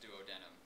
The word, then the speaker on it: duodenum: biology teacher from Wyoming, and he stressed to us that it's pronounced duodenum.